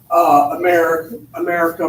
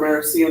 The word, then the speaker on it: americium: Americum or Americium, depending on how you pronounce it, has a little Uncle Sam standing there.